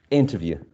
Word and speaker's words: interview: Do we have the second one, the third one? The first. The first one, right? Interview.